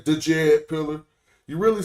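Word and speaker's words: Djed: e d pillar but it's written DJ e d pillar but you don't pronounce the d you don't say the Jed pillar you really say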